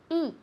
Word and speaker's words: eat: And eat has a long I, not a short one, because otherwise it would be it, como aquello, it, okay? So eat, okay?